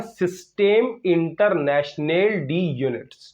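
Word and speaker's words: Système International d'Unités: That is सिस्टम इंटरनेशनल, मैं जानबूझ के गलत नहीं बोल रहा हूं, फ्रेंच लैंग्वेज में इसको ऐसे ही बोलते हैं, सिस्टम इंटरनेशनल डी यूनिट्स। ये स्पेलिंग भी जानबूझ के गलत लिखे गए हैं क्योंकि ये फ्रेंच लैंग्वेज में इस तरीके से इनको पढ़ा जाता है।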